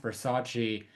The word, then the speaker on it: Versace: because that's the one part in the movie where he's like it's pronounced Versace that she seems genuinely heartbroken and embarrassed because